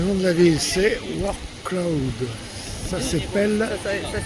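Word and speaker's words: Wrocław: Alors le nom de la ville c'est War Cloud. Ça s'appelle ça s'écrit W R O C L A W.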